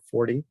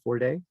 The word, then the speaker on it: Forde: Patrick Forde. Am I saying your name right? Forde or Forde? Forde, but either is fine. Forde. Okay. The E is silent.